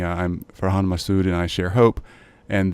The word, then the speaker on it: Farhan Masood: way to say it yep behind my suit for Han Masood excellent yeah and just to give you a